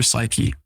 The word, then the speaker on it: psyche: lastly the last s it's a p but you know the p is silent touches your psyche your thoughts the story